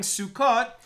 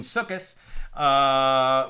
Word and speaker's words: Sukkot: And during Sukkot, or more Ashkenaz pronunciation, Sukkos, we are commanded to dwell in the sukkah.